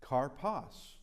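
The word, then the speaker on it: καρπός: How do we pronounce this? Hey, karpos.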